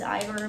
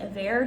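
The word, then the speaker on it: Iver: think it's a bear i thought it was ivor but i've heard people pronounce it avair so i think that's it it's a really amazing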